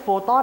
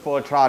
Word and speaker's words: Fortron: ก็ เรียก โฟตอน ครับ บาง คน ก็ เรียก โฟ ตอน คน ก็ บอก ว่า โปรตอน นั่น แหละ ลุง แล้ว ออก เสียง ว่า ยัง ไง พี่ อ่า นะ ครับ แบรนด์ สินค้า ของ เรา ก็ คือ โฟ ตรอน โปรตอน f o r t r o n เค้า หรือ ถ้า ภาษา